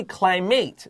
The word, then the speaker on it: climate: to this word climate we have c l i m a t e but we don't say climate this is climate because it's a noun usually and here it's